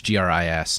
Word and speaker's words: Gris: Also, it's I think the pronunciation is Gree, but it's Gris. It's the I think, French word for gray, Yeah.